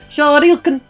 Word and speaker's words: Shoryuken: Yeah, this is the part where you have to say that you don't pronounce anything correctly. It's Shoryuken.